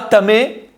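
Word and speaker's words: טמא: C'est-à-dire que Touma, Tamé, il y a un Aleph à la fin, mais on ne le prononce pas.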